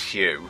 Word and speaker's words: Hugh: Yeah, it's pronounced Hugh, actually. Hugh? Oh, I'm sorry. I forgot he was a color. It's not Hug H.